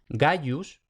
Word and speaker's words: Gaius: Por ejemplo tenemos Gaius, tenemos la I entre la A y la U, por tanto esa I no es una vocal sino una semiconsonante, Gaius.